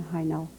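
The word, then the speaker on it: Hajnal: pro gross at the moment i was born high now how do you spell that hi now is h-a-j-n-a-l why is this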